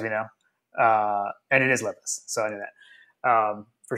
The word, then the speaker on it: Levis: make sure that I knew how to say Levis, because the pronunciation is important to me, as we know, and it is Levis, so I knew that for sure.